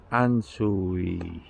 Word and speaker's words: Ansouis: great morning everyone we are here in anzu the kosher conga pronunciation a-n-s-o-u-i it's one of the lubaron villages